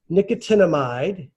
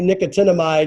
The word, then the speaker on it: nicotinamide: So nicotinamide. Is that part of nicotine? No, it just kind of sounds that way. It's actually nicotinamide is the technical name for B3.